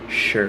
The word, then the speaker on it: sure: Sure. Like an SH. Sure.